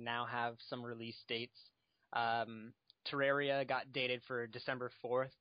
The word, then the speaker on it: Terraria: No, I have nothing to say, but it's pronounced Terraria.